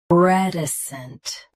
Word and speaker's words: reticent: Keep T soft and end with a light snt. Reticent.